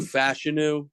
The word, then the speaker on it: Fashanu: Olu Fashanu is apparently how you pronounce his last name.